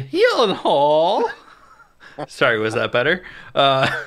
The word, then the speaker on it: Gyllenhaal: cast alone and Maggie Gyllenhaal you know directing oh you said it wrong Maggie he Hall sorry was that better